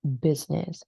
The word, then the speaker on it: business: much silent Scenic um and business so the I is quite silent as well so like business right business Scenic and this applies